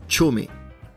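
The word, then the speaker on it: chōme: tiret parfois de ces deux kanji qui se prononcent chomeé un terme que vous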